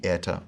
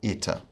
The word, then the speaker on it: eta: It's an I sound. This is one of the most major differences between Erasmian and modern pronunciations, because in fact we will see a number of vowels that will have this I sound, like the eta or ita.